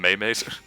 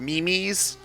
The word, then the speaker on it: memes: What are you gonna think zeroing is from Maymay's? Oh man, Ryan, gosh, they're pronounced memes.